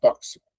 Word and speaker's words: tóxico: Eh, tenho aqui, ó, a palavra tóxico, igual táxi. Ó, a contagem. 1 2 3 4 5 6 seis letras, ó. Tóxico. Veja que a letra X representa dois sons, ó.